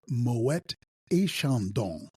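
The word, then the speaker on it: Moët et Chandon: rule that supersedes it one always pronounces the trailing T ahead of a vowel the and between Moet and Shandong in French is a or Moet a Shandong so it should be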